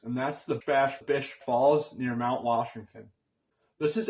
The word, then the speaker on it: Bash Bish Falls: number two is a little bit tricky to pronounce and that's The Bash Bish Falls near Mount Washington this is actually the tallest